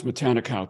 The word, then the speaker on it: Matanikau: I'm trying to learn how to pronounce Matanikau today.